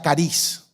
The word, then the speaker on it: charis: La palabra gracia, la palabra original traducida al español, se escribe charis, C-H-A-R-I-S. Se pronuncia cariz.